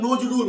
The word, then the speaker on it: নজরুল: আমরা নজরুল, দন্তের নজ, নজ, আমরা নজ উচ্চারণ করি না, আমরা নজরুল উচ্চারণ করছি, দন্তে নয় ওকার করছি।